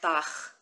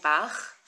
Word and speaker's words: Bach: Like Bach, when you try to say the composer's name Bach, it's a similar sound.